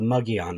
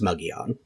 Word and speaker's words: Mogollon: in Native American but that's how we pronounce it in Arizona as white people it's Margolin but it's muggy on muggy on rim and